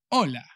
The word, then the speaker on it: hola: word in spanish hello hola se escribe con la h pero la h de hecho en español nunca nunca nunca se pronuncia bares la base española no venga o sea que hello ola luego se acabó todo